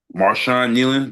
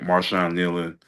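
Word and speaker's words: Marshawn Neland: Um Maran Nean, the guy for the Dallas Cowboys, I got his name wrong early when we had early podcast. I want to get his name right. Marshon Nelan who had um committed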